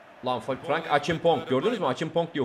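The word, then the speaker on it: Acheampong: Achimpong diye okunuyormuş.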